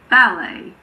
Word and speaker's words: ballet: And then we have words that have been taken directly from French and end in et, such as ballet, buffet, gourmet. But don't let that confuse you. Most of the time we pronounce et at the end of a word. And then there are some